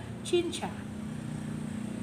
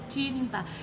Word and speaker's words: cinta: Sorry, maksudnya biasanya itu orang menyanyi kata itu cinta, mereka tidak menyanyikan itu cinta, but mereka bilang cinca. Itu salah. Mengapa? Karena kata itu adalah cinta. Kata itu dibaca cinta.